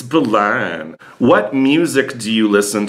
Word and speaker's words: Berlin: Why does he say Balan? Because that's how you say it. Only tourists pronounce the R. It's Balan.